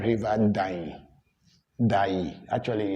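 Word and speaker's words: Dayi: But then they pronounce it Dani. The N comes in.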